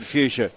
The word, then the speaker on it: fuchsia: You're a good stab at it, mate, because it's pronounced how you would say that four-letter word.